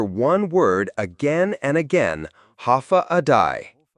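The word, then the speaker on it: Håfa adai: Step foot on Guam and you'll hear one word again and again, ha adai. Pronounced ha a day.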